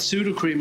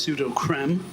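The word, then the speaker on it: Sudocrem: me in mind uh what else i've got pseudo cream on the list controversial because people actually should be pronounced pseudo creme it's a zinc oxide ointment yeah i can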